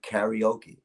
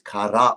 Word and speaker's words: karaoke: this won't change anything in America they say karaoke yep that's the incorrect pronunciation it is kadhai okay Konami is empty and Spacey says empty